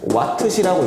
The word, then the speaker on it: 와트시: 그래서 단위를 뭐로 만들어주냐면은 WH라고 해서 얘를 읽을 때는 와트시라고 읽어준다.